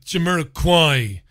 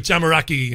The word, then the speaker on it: Jamiroquai: So the elder statesman wouldn't have a clue how to pronounce names like Jamiroquai. Would say things like Jamaraki and stuff like that.